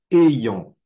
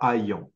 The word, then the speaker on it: ayant: j'ai noté d'autre ah on prononce ayant pas aillant et ayant super ensuite d'autres connecteurs